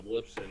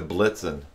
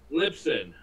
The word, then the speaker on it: Libsyn: Now, I heard you say you're moving them over to Blitzen. Lipson. How do you spell that? Libsyn.